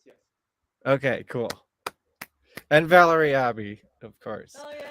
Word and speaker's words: Abbey: And Valerie Abbey, of course. Oh, yeah, Abby.